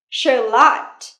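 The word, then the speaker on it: shallot: có củ hành khô đó là charot Charlot trọng âm rơi vào âm tiết thứ hai nha nào Charlot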